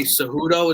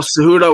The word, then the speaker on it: Cejudo: But Henry Cejudo, is that how you pronounce his name?